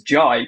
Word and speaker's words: Jai: the J is actually it's supposed to be pronounced as Jai because I'm I'm part Indian um so my my